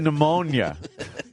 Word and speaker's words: pneumonia: Pneumonia.